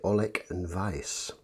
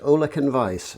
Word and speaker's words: Ollech & Wajs: this brand for long enough that the correct pronunciation is actually olek and vice um which is a little unusual uh it's